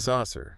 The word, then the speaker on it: saucer: That's a saucer. Saucer. Stress is on the first bit.